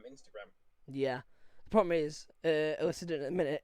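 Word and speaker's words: Alycidon: It's not Alcidian, it's Illiciden, you twat.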